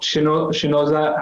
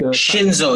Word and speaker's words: Shinzo: in the episode we wanted to talk about shinoza abe i hope i got that pronunciation correct shinzo shinzo and so his tragic death of course